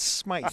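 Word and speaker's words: Smyth: it I don't know s-m-y-t-h that's how that Auto Parts spells it in Wilmington but they don't pronounce it Smith oh it's smite foreign 49 yard line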